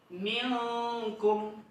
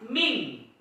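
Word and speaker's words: منكم: Minkum, bukan ming. Berbeda. Kalau ming itu bukan hukum tajwid, tapi dia seperti seolah-olah ming, cuman dia bukan ming. Dia tetap min, tapi disengaukan.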